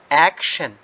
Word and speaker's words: action: طيب the first word is action. شوف كيف بنركز على T-I-O-N. اك وضل عندي شن فاصبحت اك شن.